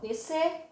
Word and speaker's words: descer: caso DSC S cedilha e XC vamos lá descer desço e é ceder Quando eu digo de